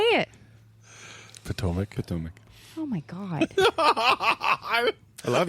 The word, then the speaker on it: Potomac: Potomac. Oh, my God. I love you. I was just gonna let it out there. I wasn't gonna say anything. Potomac? Yeah. Like big toe.